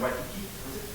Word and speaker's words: Waikiki: So I remember when we were traveling from the airport to, I think we were in Waikiki.